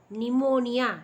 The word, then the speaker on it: pneumonia: the next disease pneumonia see here p is silent okay p is silent we must pronounce this as pneumonia pneumonia is also due